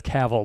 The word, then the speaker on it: Cavill: I had to look it up because I wasn't sure how to say it for sure, but he said it's Cavill, like travel. So Henry Cavill, if you don't know, is, I got to find a picture of him here.